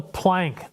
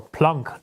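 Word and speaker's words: Planck: space is called the plank length or plun length if you're going to give it the proper German pronunciation the plunk length is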